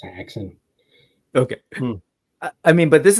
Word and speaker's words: Häxan: Do you pronounce the umlaut at all? Am I like missing it? Do you know? We haven't been using it, but I mean, it's Haxen.